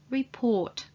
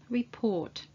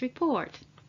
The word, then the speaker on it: report: at all which is report report what's important however that the stress is on the second part of the word the second syllable report for example we would like to discuss the latest report or he reports to